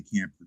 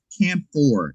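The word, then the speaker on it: camphor: And it's a it's based on a camper like like a camper. Camp for is what what Yeah, it's it's spelled C A M P H O R.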